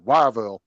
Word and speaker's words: Whiteville: lived in Whiteville, but nobody said Whiteville. They said Wyville. Wyville. Yeah. Like that's how they pronounced it, Wyville. They didn't say any, the T and the E were completely fucking absent from that word.